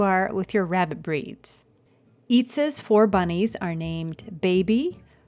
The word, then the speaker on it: Itza: Finally, let's hop on back to the good old Buckeye State, where we have Itza and her four bunnies from right here in Ohio. Itza, who says her name rhymes with pizza, which was a big